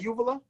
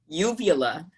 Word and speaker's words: uvula: How you pronounce that? Uvula? Uvula.